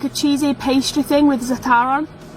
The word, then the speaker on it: za'atar: Za'atar? I think it's pronounced za'atar.